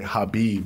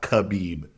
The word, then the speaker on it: Khabib: It took me the longest time for me to say Habib and not Khabib, you know?